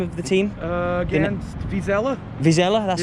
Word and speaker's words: Vizela: Is it Visio you're playing? How do you say the name of the team? Against Vizela.